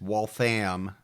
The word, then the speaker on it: Waltham: We've got a great episode this week about the Waltham or Waltham. I keep saying it wrong, Gibbs. It's Waltham. It's Waltham triple murders.